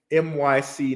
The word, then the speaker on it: MYC: Dion's channel for that my scene um I always say that say it wrong it's myc Network okay um so NYC